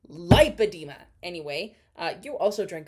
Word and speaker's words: lipedema: I will die on this hill it is lipedema Google it right now how to pronounce liida like spell it Li IP you know the rest of it it is pronounced lipedema anyway uh you also drank a [ __